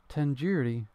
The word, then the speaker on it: tandoori: Sure, you at least recognize tandoori chicken, right? You're saying it wrong. What, really? Tandoori? Tandoori? The do isn't like indoor. It's like a doo-doo head.